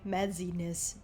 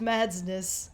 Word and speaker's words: Madsness: That reminds me, I've had people, like, miscall me Madsiness because they think they have to pronounce the Z like a Z-E, Madsiness. There's no Y. There's no Y. It's just Madsness.